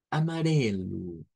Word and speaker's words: amarelo: con el siguiente color repitan conmigo por favor amarelo amarelo acen que es una re es una r suave la que se utiliza en esa sílaba T amarel bien y